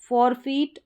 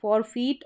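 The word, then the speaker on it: forfeit: फॉरफीट और सरफीट, क्या है, फॉरफीट और सरफीट, ई साउंड आ रहा है ई आई का।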